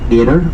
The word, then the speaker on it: Mater: In Belfast, how we pronounce words signifies which side of the divide that you come from. So how you say Mater or Mater, people trying to decipher which side of the divide you come from.